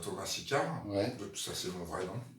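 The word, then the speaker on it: Tôma Sickart: le truc c'est moi je m'appelle Thomas Sicard il s'écrit pas comme ça quoi j'ai juste changé un peu l'orthographe pour faire un magnifique jeu de mots et sick art tu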